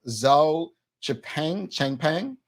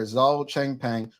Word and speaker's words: Zhao Changpeng: 13 charges against Binance, and I believe it's pronounced Zhao Changpeng. Now, if you're not familiar, the U.S. Securities and Exchange Commission, according to the Royal Gazette, have charged Binance Holdings Limited and its founder, Zhao Changpeng, with a variety of security law violations.